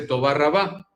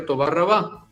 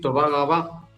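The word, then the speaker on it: תודה רבה: Entonces, por eso es que la R y algunas otras letras las pronuncian de una forma gutural. Para decir muchas gracias en hebreo se dice Toba Rabá, si hablas un hebreo típico, clásico.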